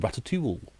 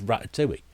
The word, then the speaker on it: Ratatouille: and watch that instead it even tells you how to pronounce it tops is rat at 2E there we go people going with ratatoul no if you ever watch faulty Tales you know it's rat do we there we go there's